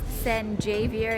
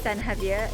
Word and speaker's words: San Javier: at this stop called san javier sen jay beer in english but san javier in spanish it's not too far